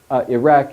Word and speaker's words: Iraq: stop uh-huh it's like the how you should pronounce Iraq is it off with a nice cue at